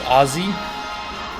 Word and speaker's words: Aussie: Pronounce it like Azie. I'm good. I think that makes me more Aussie. Makes me more Aussie if I say it like that.